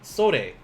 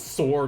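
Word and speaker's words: それ: This one, sore. Sore. Now, don't be like my high school students, like, Sensei, what does sore mean? It's like, I'll give you a sore because you're saying it wrong.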